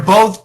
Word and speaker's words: both: They're both chubby weathermen. Oh, well, they are both. Perfect. By the way, what is the right pronunciation of both? Both. It's an aspirated TH. Both.